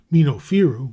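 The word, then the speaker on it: Mennofiru: which he called minofiru from his tomb mino firo which is the correct pronunciation and the origin of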